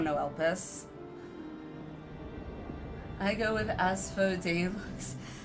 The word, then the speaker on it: Asphodel: I have to try and pron pronounce it like annunciate it because I keep want to go as as fados which isn't quite right cuz I want to say it too fast but all right not talking.